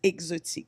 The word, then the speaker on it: Xotiq: I use Xotiq without the E because I wanted, no matter what language, I didn't want them to pronounce it weird. Okay. So I figured any language, if you start with the X, they'll have it close to how I wanted it to sound.